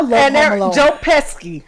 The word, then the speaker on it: Pesci: Joe Pesci. How Yeah. do you pronounce his name?